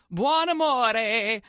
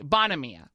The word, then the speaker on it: Buonamia: Buonamore. Buonamia is really Bonamia.